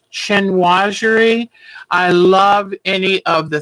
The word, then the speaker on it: chinoiserie: But I don't know how to say this word right, but it's chinoiserie.